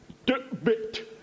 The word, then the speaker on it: Tebbit: What do you make of tebbit, Mark? Well, firstly, let me attempt to give you the correct pronunciation, which is something like Bit.